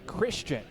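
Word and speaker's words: Khristian: Christian is spelled K-H-R-I-S-T-I-A-N. Christian.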